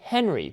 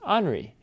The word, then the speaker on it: Henri: I know it looks like Henry, but it's actually pronounced Henri.